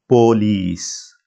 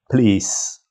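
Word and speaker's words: پولیس: P is not aspirated. Second letter wow is pronounced as O, and L, E, S. Now, in English, it's police.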